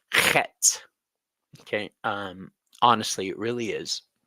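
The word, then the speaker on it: חית: Het means fence, and it's spelled Chet, C-H-E-T, but it's pronounced Het.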